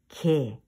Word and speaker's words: 개: Crab is in Korean 개. 개. 애를 민하게 발음합니다. You should pronounce 애 is mean 애.